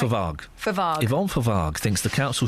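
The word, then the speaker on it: Fovargue: Forvague. OK. Hang on, is that right? Forvague.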